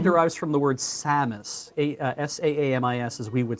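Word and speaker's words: Saamis: The name derives from the word Samus, S-A-A-M-I-S, as we would spell it with English characters.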